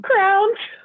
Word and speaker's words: crayon: say I say Crown I say Crown Crown I know it's a crayon but I call them crowns crayon no give me the blue crown Crown yeah like I pronounce it like the thing you put on your head mm y interesting words